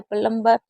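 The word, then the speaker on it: plumber: तो हमेशा बी एम और बी होगा तो भी साइलेंट होगा। और बी और टी होगा तो भी बी हमारा साइलेंट ही माना जाएगा।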